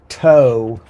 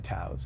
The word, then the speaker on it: TAO: Well, I call it a TAO. It actually TAO. is an acronym. It's an acronym, Talent Anchor Online.